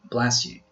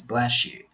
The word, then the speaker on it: bless you: The correct option is B, bless you, which can also be pronounced as bless you. Whenever you have an S sound before the iota sound, you can also pronounce it as sh.